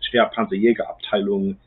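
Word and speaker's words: schwere Panzerjäger-Abteilung: They were all issued to the 1st Company of the 653rd Heavy Panzer Battalion, also known in German, that's pronounced Schwerpanzerjägerabteilung 653, which was immediately deployed to Italy in response to the Allied landings at Anzio.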